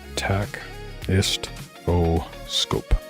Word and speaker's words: tachistoscope: of a tachistoscope tach ist o scope. Tachistoscope. That's how I would pronounce that knowing the root of all of those words.